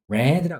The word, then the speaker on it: read: 단 read란 단어만 우리가 특이하게 발음이 다르죠. read red라 읽는다라는 거.